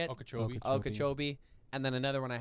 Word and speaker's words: Okeechobee: lifetime what would it be and it was okie cho how do you say it okeechobee and then another one i hadn't heard of